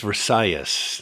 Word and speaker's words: Versalles: Area number one is Versace. Now the word looks like Versailles which was the palace still there in Paris but this is just pronounced different being Spanish and all.